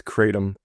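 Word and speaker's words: kratom: and I appreciate it's it's a little bit of tricky pronunciation it's it's katum katum is uh it's a leaf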